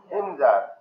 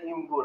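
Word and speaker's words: Imgur: যেমন আপনি উচ্চারণ করলে গেলে ইমগুর হয়, আবার বলে ইমজার হয়, ইমুজার হয়। আপনি যখন ভয়েস শুনতে যাবেন ইমুজার এইভাবে বলবে আপনাকে। মূলত এটা হবে ইমগুর। আমরা যদি বাংলা ভাষায় ট্রান্সলেট করে ইমগুর হয় না ইমজার হয়?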